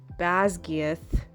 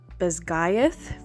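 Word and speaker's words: Basgiath: kind of saying Tarn I've been butchering baz GTH in my head that's how I was saying it it's pronounced bth for the war College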